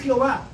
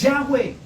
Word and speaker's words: Yahweh: Entonces no es Jehová y no es Dios, es Yahweh.